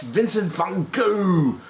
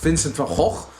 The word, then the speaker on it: Vincent van Gogh: And I really don't know how to say this now, because in Dutch it's Vincent van Gogh, the English say Vincent van Gogh, and I've heard it bastardized further as Vincent van Gogh.